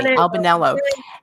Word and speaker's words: Albanello: one of them was I want to make sure I pronounce her Albanello. Excuse me, Albanello. It's And very similar. yeah, Albanello, which interestingly, looking it up, if you say Albanella, it's the Marche, and Albanello is Sicily.